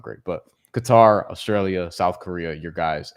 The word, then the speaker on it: Qatar: Group A is Qatar. I believe Qatar is the proper way to say it, but I don't sound good saying it. It's just I'm just gonna say Qatar, bro. We're gonna cutter that out of here, you know.